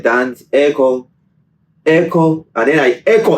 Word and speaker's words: Eko: yeah and then yeah sometimes people actually spell it as Echo as in sounding real Echo yeah real Echo and